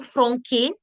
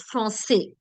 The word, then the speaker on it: français: Whenever you put the cédille, the sound becomes s. So instead of this being garçon, it's garçon. Instead of being franqué, it's français.